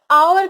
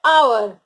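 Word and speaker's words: hour: बट अगर आवर की बात करें तो एच यहाँ हम प्रोनाउंस ही नहीं कर रहे हैं, हम बोल रहे हैं आवर, ओ यू आर, आवर।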